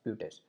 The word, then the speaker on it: buttes: इट्स नॉट बट, इट्स ब्यूटस. ठीक है. तो पिछले लेक्चर में मैं बट बोल रहा था, बट it's actually pronounce eight ब्यूटस.